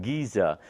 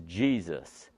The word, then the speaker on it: Giza: states that the pronunciation of it being called Giza is a mispronunciation that in fact the proper pronunciation for the Giza plane is Jesus and the reason he said that is because